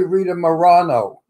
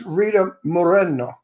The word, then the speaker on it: Moreno: Rita Moreno that's it people say Rita Morano or Marina or Moreno it's it's Rita Moreno that's how you say it in Spanish um just a point